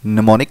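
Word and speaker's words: mnemonic: निमोनिक codes, M silent है, निमोनिक codes.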